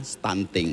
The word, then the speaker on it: stunting: Jadi stunting itu sudah diindonesiakan. Tulisannya stunting. Oh, Tulisannya stunting. stunting. Tapi bacanya adalah stunting.